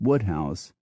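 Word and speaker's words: Wodehouse: Anthony Powell becomes pole PG Woodhouse becomes Woodhouse the poet William cper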